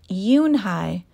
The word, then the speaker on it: Unhei: turned to Joey she nodded slowly yes it's pronounced yunhai and it means Grace Mr Kim added yunhi Joey said slowly and this time perfectly it